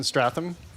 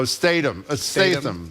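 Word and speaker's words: Statham: you say his name who is he Jason Stratham oh Statum I forget they are he's a big action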